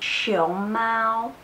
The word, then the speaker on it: 熊猫: are going to learn how to differentiate the sound of show mouth and show Mao I know it can be quite difficult sometimes if you pronounce the words Romi in Chinese so make sure you pronounce this correctly show mal it's panda show mouth its chest hair so they're very very